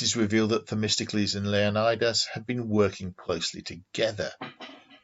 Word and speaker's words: Leonidas: played by richard egan i pronounce his name as leonidas because that's how all the movies pronounce it unity of the greeks